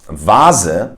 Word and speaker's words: Vase: But in some words like Vase, which stands for vase, it is pronounced as a V, but I feel like it's mainly pronounced as an F, but sometimes as a V.